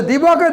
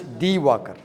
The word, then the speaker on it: Diwakar: If I say Diwakar, they can't pronounce correctly. So I write that, not Johnny Walker, blue label. It's D Walker, right?